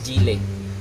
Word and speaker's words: Gille: kung gaano katibay yung gili o gili tinatawag na Sorry ha ah pronunciation nito is gile so This is Italian